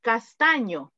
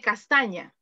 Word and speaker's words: castaño: So, for example, you said castaño. When, for example, I can say, mi papá tiene el cabello castaño. You say castaña.